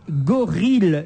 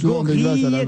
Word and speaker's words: gorille: Alors attendez, parce que le temps que je comprenne, il me dit gorille s'écrit avec 2 L et se prononce comme aiguille et vanille.